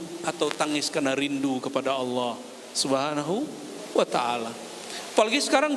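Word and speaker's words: الله: Sekali dia lagi lewat di tong sampah terlihat di situ ada kertas kaligrafi alif lam lam ha. Bacanya apa? Allah.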